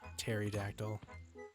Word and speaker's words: pterodactyl: pterodactyl is still there Terry dactyl yeah his name's Terry with a p p is silent yeah actually no p